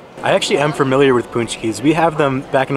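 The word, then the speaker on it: pączki: they were spelled differently because we always said punch keys but if you look at it looks like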